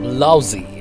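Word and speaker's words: Blausee: Hello guys, finally पहुंच चुके हैं ब्लाउजी, और ये प्रोनाउंसिएशन ब्लाउजी है।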